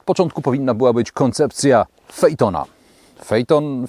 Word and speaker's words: Phaeton: powinna być koncepcja aitona fejton fitton może Peyton wymawia się Fight On nie ma za co